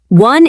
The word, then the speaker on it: won: Won is spelled w o n, but it sounds exactly like the number one.